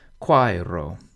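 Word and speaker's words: quaero: part of the consonant quiro has just two syllables and this sometimes holds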